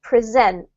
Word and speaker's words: present: So the verb is pronounced present. Presents multilingualism. Presents. Yep. If you're talking about now, then you would say present, or a gift is also present, okay?